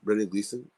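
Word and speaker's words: Brendan Gleeson: no no no performance Colin Farrell and uh Brennan Gleason that's how you say it right yes great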